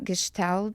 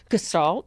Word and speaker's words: Gestalt: reading about you too, that I will probably pronounce it wrong, but you will correct me. Gestalt. Gestalt.